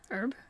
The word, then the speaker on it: herb: to do it herb it's got a h at the front herb yeah what do